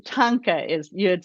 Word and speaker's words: thangka: a a chapter on how to pronounce it like tanka truck you know if you think of tonka trucks you can you'll get it right i always butchered names